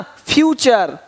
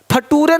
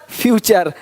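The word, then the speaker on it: future: यहाँ पे देखिए क्या दिया है, कल्चर, पिक्चर, है ना, फ्यूचर। फटूरे नहीं बोलना कि देखो भाई ऐसा नेचर है तुम्हारा कि फटूरे खराब हो रहा है, नहीं, नेचर फ्यूचर, ठीक है।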